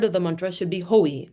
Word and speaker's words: hoi: use of hoi, and take pains to emphasize that it should be pronounced hoi, not Havai.